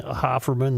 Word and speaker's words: Hofferman: Would it be pronounced Haferman? I'll take that up with the with the I crew. mean, look at the spelling. Well, the owners are the Hofferman family. All right. And I believe that's how they pronounce it. Well, if they pronounce it that way, that's the way to pronounce it. Would you like me to inquire about that spelling? No. If they're saying Hofferman, then it's Hofferman.